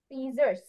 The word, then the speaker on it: scissors: ওকে, তাহলে এটা আমি দুই ভাগে উচ্চারণ করতে পারি, SCIC তারপর SSORS। সিজার্স। সিজার্স।